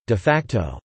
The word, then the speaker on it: de facto: in law and government de facto or Latin de-facto in fact Latin pronunciation de facto describes practices that exist in